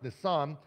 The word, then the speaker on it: Nisan: I'm going to get the pronunciation of this wrong. I do it every time. It's Nisan.